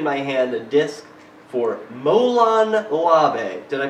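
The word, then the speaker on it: Molon labe: i'm holding in my hand a disc for molan labe did i pronounce that correctly exactly excellent and tell us a little bit about this movie is this your latest one molon lavey was released last september it is our sixth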